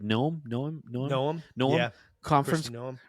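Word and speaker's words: Noem: Noam?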